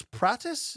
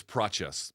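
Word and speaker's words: Prates: Luke, welterweight Carlos Pratis, is that how you say it? I think it's Praches, but pronounce it like a CH.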